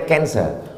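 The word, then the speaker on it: cancer: darah menggumpal-menggumpal menjadi canser tulisannya C A N C orang barat membacanya kancer orang kita susah menyebut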